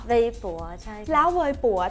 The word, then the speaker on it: Weibo: o ค่ะ B Bo แต่ เรา ออก เสียง เป็น เหมือน ภาษา จีน ถูก มั้ย คะ ถ้า ทั่ว ไป อาจ จะ สกด กัน เ โบ หรือ เปล่า นะ แต่ ที่ ถูก ต้อง คือ เวย ปั๋ เว ปั๋ว ใช่ ค่ะ แล้ว เวย